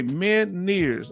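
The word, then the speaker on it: Ménière's: Okay, Meniere's. Okay, Meniere's. Thank you for helping me pronounce it. Meniere's, French word, inner ear balance, so it can throw off your balance.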